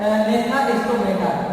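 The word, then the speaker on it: Gnathostomata: ग्रेनेटा इसका सब फाइलम, मल्टीपेटा इसको दो समूह में बांटा गया है, एक तो है एग्नेटा और एक है नेथा स्टोमेटा, यानी साइलेंट नेथा स्टोमेटा प्रेजेंट।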